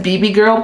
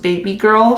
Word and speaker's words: BB Girl: Well, it says BB Girl, but it's actually pronounced Baby Girl for this blush, and that's what Nikita mentioned when she had released this palette.